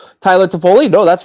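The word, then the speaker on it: Toffoli: Foley oh God I'm really hoping I'm not pronouncing that wrong Tyler tapoli no that's right yeah from a Calgary yeah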